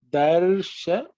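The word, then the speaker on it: दर्शनार्थम्: in the word is Darshanartham. Darshanartham. Okay, just pay attention to the tha, which is an aspirated tha, which you may sometimes ignore.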